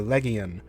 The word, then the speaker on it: legion: consistent hard G changing legion into legion, or a consistent hard C turning centurio into centurio.